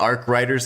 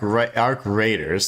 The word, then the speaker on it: Arc Raiders: Arc the Arc I call it Arc Riders as a joke cuz one of my buddies likes that game and I always tease him. Um, but Arc Arc Raiders, sorry, I have to say it right.